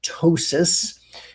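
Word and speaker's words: ptosis: We call it tois. And you spell that, it starts with a P, the P is silent.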